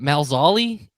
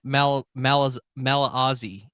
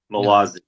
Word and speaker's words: Malazzi: I want to make sure I get is it Malzali? No, I botched that. This is part of why I wanted you to do it, but now he's not going to come on if you can't pronounce his name correctly. No, can we try it? Try it another time? All right. It's Stephen Malazzi, right? Malazzi. Malazzi. That's it.